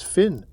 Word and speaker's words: Finn: The other was a young man named Henry Francis Finn rhymes with win.